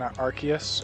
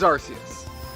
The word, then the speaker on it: Arceus: prefer arkansas but okay now eventually the story goes they change that pronunciation uh because of the the name arse within it and british people were having a laugh about it being so close to ass so they said oh